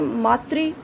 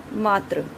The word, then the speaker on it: मातृ: शुद्ध शब्द ये होते हैं मातृ, लेकिन इनका उच्चारण किस प्रकार से कर देते हैं? मात्र, जो कि गलत है।